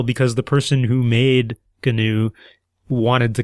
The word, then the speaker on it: GNU: It is not a new. It is capital G, capital N, capital U is not a new. It is gnu. If you say new, I'm going to think of the antelope type thing. If you say gnu, I'm going to think of that open software.